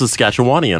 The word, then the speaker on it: Saskatchewan: saskatch apostrophe WN um the official one is saskatchawan according to Wikipedia also saskatch aana KN